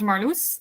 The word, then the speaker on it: Marloes: yeah my name is marus um um it's a very Dutch name and that's why I pronounce it now so everyone knows how to pronounce it uh I um live